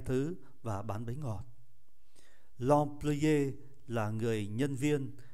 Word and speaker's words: employé: L'employé là người nhân viên. Các anh chị để ý chữ M mà đứng trước P thì đọc là N, l'employé.